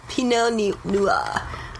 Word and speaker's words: Pinot Noir: You just gotta pretend you're French. Pinot Noir.